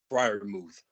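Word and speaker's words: Freiermuth: On the receiving end, we have, how do you pronounce the tight end's last name? Fryermuth.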